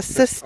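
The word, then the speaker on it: cist: And underneath that, I believe would be a cyst chamber, a chamber with And that's spelled C-I-S-T, a cyst chamber. Kist, some people say kist, Mm-hmm.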